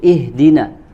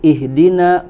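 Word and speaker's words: اهدنا: Kemudian yang selanjutnya adalah wa hamzah, ya, wa hamza alhamdu a'udhu ihdina, Ya, di sini yang diperingatkan oleh Al-Imam Ibnu Al-Jazari itu adalah pada huruf hamzah, ya, pada huruf hamzah pada kata alhamdu, a'udzu, ihdina, kemudian di bait selanjutnya Allahu.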